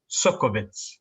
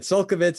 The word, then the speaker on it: Csolkovits: it justice ea suckabits you nailed it that's perfect in fact if i ever forget how to say it do you mind if i call you and ask you so that's it sulkivitz is the key yeah the the first